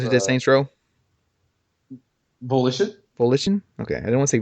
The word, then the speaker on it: Volition: you say it I don't want to say Voltron Vol volton the guys who did Saints Row volition volition okay I didn't want to say Voltron because